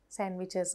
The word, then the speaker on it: sandwich: සමහර letters silent pronounce කරන්නේ නැහැ. Sandwich, bridge. දැක්කනේ bridge. එතකොට ඩ එකක් කොහෙවත් ඇහෙන්නේ නැහැ. Sandwich. පුතාලා sandwiches ගෙනියනවා නම් breakfast වලට, lunch වලට ඒක කියනව නේද ඒ වචනේ. එතකොට අපි sandwich කියලා කියන්නේ නෑනේ. අපි කියන්නේ sandwich. එහෙනම් d is a silent letter in this word.